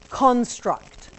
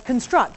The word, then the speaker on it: construct: I pronounce that word construct. I put the emphasis on the first syllable.